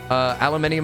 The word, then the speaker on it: aluminium: Aluminium and aluminum are two different words. No, they are not. No, they are not. They are two different pronunciations of the same material.